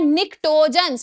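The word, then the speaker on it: pnictogens: Group number 15, ये भी previous year question है, इनको बोलते हैं निक्टोजेंस, पी साइलेंट होता है, निक्टोजेंस मतलब जिनकी एक्सट्रीमली अजीब सी स्मेल होती है।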